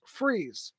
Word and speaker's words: Fries: So where I'm from, Fries is Fries. Here it's Freeze. I don't know how they get freeze out of Fries, but it is.